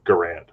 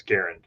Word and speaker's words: Garand: probably going to say you know garand but the man's name was garen so i tend to say garen because that was the way he pronounced his own name but i don't think